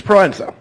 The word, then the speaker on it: Proenza: Thank you, because I never knew how to pronounce that name. Dr. Luis Proenza.